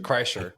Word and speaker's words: Kreischer: Kreischer? Kreischer.